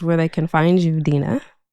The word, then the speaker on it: Dina: Dena. Sure. So, just so you know, my name is spelled Dina D N A. And so, I go by D N A DNA. Dina DNA.